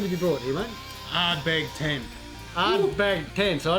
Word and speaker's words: Ardbeg: Ardbeg 10. Ardbeg 10. So I don't even, I can barely even pronounce it. It's only 2 syllables.